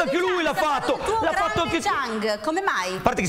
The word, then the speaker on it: Zhang: No, ma spiegami l'ha fatto anche lui, l'ha fatto anche Zhang. Come mai? A parte che si chiama Zhang e non si chiama Chang.